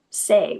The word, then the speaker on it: Tse: So for this morning's meditation um we use the mudra say which is spelled TSE but pronounced say.